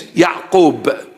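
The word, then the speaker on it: יעקב: That is the meaning of the name James, Yaqub, the proper pronunciation, nothing to do with James.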